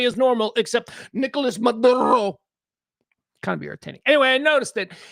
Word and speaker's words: Maduro: Because that's not how we You know how we say Maduro in America? Maduro. That's how we say it.